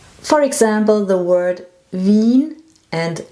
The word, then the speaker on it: Wien: IE is a long E in German.